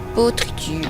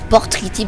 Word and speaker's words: Potriti: Donc là je vais me rendre au système Potriti, j'aime jamais le prononcer, je dis toujours Portriti parce qu'il me fait penser au porc.